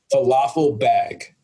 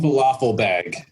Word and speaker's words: Fathelbab: One that comes to mind, I think, was probably a grade school experience was falafel bag. Fathelbab.